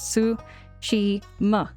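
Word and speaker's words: Tsushima: So, it's Sui Ma. The T is silent.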